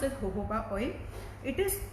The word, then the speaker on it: jojoba: It is written as Gojoba, but it's pronounced as jojoba oil.